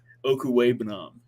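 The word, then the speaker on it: Okwuegbunam: this year there is the addition of Albert Okuwebunam, is how you say that, but we're just going to go with Albert O.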